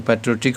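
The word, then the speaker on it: patriotic: तो पैट्रियोटिक हो गया देशभक्त, पैट्रियोटिक ये हो गया इसका जो प्रोनाउंसिएशन, जैसे ये पढ़ रहे हैं पैट्रियाटिक, ये एकदम शुद्ध जो बोलते हैं वो हो गया पैट्रियाटिक। और देशभक्ति जो कि हैविंग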